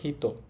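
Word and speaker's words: 人: এই কাঞ্জিটার কুনিয়ম বা জাপানিস উচ্চারণ হবে হিত। আর অনিয়ম চীনা উচ্চারণ হবে নিন এবং জিন দুইটাই হবে।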